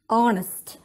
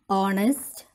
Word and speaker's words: honest: us take the word honest announce the word honest here the word the alphabet h is silent and we pronounce with o so i use an